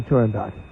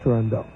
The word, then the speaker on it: Turandot: Yeah, it is, in Italian it would be Turandot. So you would say dot? Yeah. And not do? Yeah, although it's often pronounced Turandot.